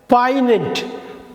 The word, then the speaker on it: poignant: அந்த ஒரே ஒரு க்ளூ தாங்க, அந்த ஜியை உச்சரிக்கக்கூடாது. எப்படி படிப்பீங்க? அந்த ஜியை உச்சரிக்காமல் படிக்கணும். பாருங்கள், பாய்னெண்ட். பாய்னெண்ட், இந்த ஜியை உச்சரிக்கக்கூடாது. பாய்னெண்ட்லாம் படிச்சிடக்கூடாது.